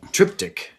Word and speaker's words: triptych: It's Triptych. Yeah. Triptych. It's in 3 parts. I don't know if Yes. that's a correct pronunciation. That's correct. Okay. Yeah, triptych. Yes. Triptych. Yeah.